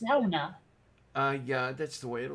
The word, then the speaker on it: sauna: Although in Finnish, it's pronounced sauna.